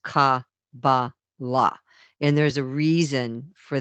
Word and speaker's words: Kabbalah: But a couple things stood out to me, and one of them was the word Kabbalah actually, meaning being pronounced Ka-ba-la.